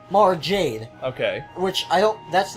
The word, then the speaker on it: Mara Jade: Luke, the daughter of Obi-Wan is Mira Jade, or Mira, I don't know how you pronounce it. Mara Jade? Mara Jade.